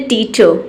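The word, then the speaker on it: teacher: या फिर करते भी है तो एकदम हल्का प्रोनाउंस करते हैं। देखते हैं एग्जाम्पल, जैसे टीचर, ठीक है, टीचर इस तरीके से आपको मिलेगा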